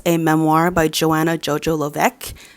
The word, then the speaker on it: Levesque: memoir by Joanna Jojo Lovec. Didn't know that's how you pronounce her last name until she said it. I thought it was like Levesque.